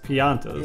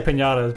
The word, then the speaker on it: Piantas: Piantas. Yeah. Yeah, it does. I always say piñatas because it's just like, yeah, it's kind of like that. Yeah, yeah. It's spelled almost exactly like that.